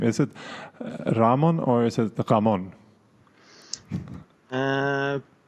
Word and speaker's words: Ramon: decide on your own usually I say my name is Ramon when I speak in English as Spanish people or Latin American people say Ramon yeah exactly that's that's